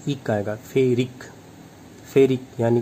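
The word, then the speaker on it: ferric: Iron 2 वाले को फेरस कहेंगे, अस लास्ट में अस आ रहा है 2 वाला, और 3 वाला को फेरिक कहेंगे, लास्ट में इक आएगा, फेरिक।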